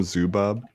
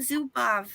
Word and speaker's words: Zubov: Did you just call him Zubob? No, I called him Zubov. Sounded like Zubob.